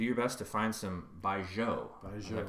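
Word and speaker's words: 白酒: So make sure to check out the show notes for this delicious recipe, and do your best to find some Baijiu. Did I pronounce that correctly?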